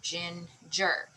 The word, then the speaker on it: ginger: so we have ginger now most of the time on two syllable words the accent is on the first syllable but you always want to check because the syllable goes to the the accent mark sorry the accent mark goes to the syllable that is longer louder or higher so sometimes when you say it it might not sound right but this one is on the first one ginger okay all right over